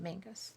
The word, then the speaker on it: Menzies: We it's spelled Menzies. They say Mingus. Hmm. I don't know why.